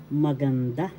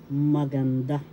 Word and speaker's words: maganda: the excuse me please third syllable has the accent maganda that's how you pronounce it when you say the accent is there that's how you will pronounce maganda the word any word